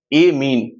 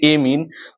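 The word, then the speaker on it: amine: तो उसे आईमीन, 2 hydrogen add हो जाए एमीन, प्रोनाउंसिएशन पे ध्यान देंगे, एमीन, 3 हाइड्रोजन की स्थिति में अमोनिया और 4 हाइड्रोजन की स्थिति में अमोनियम कहते हैं।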